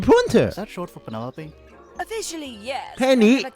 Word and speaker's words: Penelope: Penny Pointer Is that short for Penelope? Officially, yes. Penny. I never can be bothered with all 4 syllables of it. Penelope sounds a little ostentatious coming out of the mouth, don't you think?